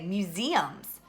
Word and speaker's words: museums: It's actually the second syllable that has the long the E sound, and that's the accent. We say museums.